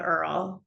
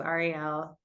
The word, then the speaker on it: Ariel: So the main joke I'm guessing is the Earl joke. Um which is so I say um Jews pronounce my name one way which is Ariel. Spanish people pronounce it Ariel but in Kentucky they say it earl um which so that's